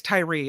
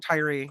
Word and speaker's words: Tyre: say his name correctly I think it's Tyree it's t-y-r-e so I pronounced that Tyree yeah yeah so I